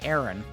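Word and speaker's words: Aran: I I don't know who comes up with the pronunciations of these, but it's A R A N. Aaron, grab that.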